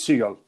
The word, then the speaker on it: Segal: In English Seagull. Seagull. Okay. Are you originally in Spanish? In Spanish is seal. Okay. So, so the real way it's seagal.